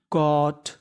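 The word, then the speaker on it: caught: CAUGST, AU को मैंने बताया कि क्या पढ़ना है? ओ। GST को क्या पढ़ना है? टा। और शुरुआत में लिखा है C, तो मीनिंग बन गई कॉट, कॉट।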